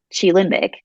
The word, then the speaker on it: QiLimbic: missing until I found Chi limic um which is how you pronounce it Chi like Tai Chi um it's it Chi